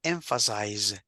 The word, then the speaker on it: emphasize: see pronunciation this one we say emphasize emphasize vibration the Z emphasize okay the other one is